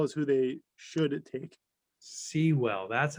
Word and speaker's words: Sewell: Sewell, that's how you say it.